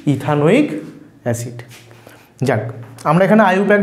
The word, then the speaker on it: ইথানোইক: পুরো নাম কি হবে এখানেও ই টা বাদ যাবে উচ্চারণ করবো না ইথ আন ওইক এসিড একসঙ্গে উচ্চারণ করো ইথ আনোইক acid ইথানোইক acid ইথানোইক acid তাহলে